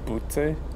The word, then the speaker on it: Butte: How about we go here to the rest stop in Butte? How do I pronounce it? I don't want to pronounce it as a part of a human body.